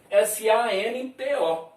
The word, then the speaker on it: santo: Se escreve assim, S-A-N-T-O. Santo. Mas a pronúncia é si, an, T-U.